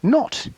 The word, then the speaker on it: naught: equals v naught yes this little o is pronounced not kind of like not e but it's i